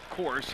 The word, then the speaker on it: Course: It's pronounced Course, so I got lucky and I did it right.